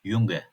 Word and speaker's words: Junge: Bunların dışında J harfleri Y gibi okunur. Örneğin "Junge" R sesleri Almanya'nın bazı bölgelerinde Türkçedekine yakın bir şekilde söylenebilir.